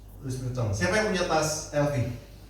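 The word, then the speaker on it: Louis Vuitton: Nah, kemudian juga dia berkolaborasi dengan ee produk fashion namanya LV atau bahasa Solohnya Luis apa bacanya? Luis Pitton. Luis Piton.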